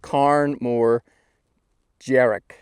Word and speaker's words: Càrn Mòr Dearg: So it's telling me that this mountain I'm sitting on now, you pronounce it Càrn Mòr Dearg, and I would have pronounced that Dearg, but apparently it's Dearg, and it means big red hill.